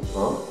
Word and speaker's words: en: En, olha lá, a pronúncia é como se fosse um A com um chapéuzinho, com um seu tio. En, en, no, na, de, então está dentro ali, ok?